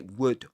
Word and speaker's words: would: the verb would in which you don't pronounce the L consonant. You say would would.